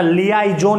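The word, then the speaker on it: liaison: याद रखना, लियाइजोन इसको हम बोलते हैं।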